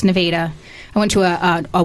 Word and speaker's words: Nevada: So I went to school um down in um Nevada, Missouri, which is it's spelled just like Nevada, but it's pronounced Nevada.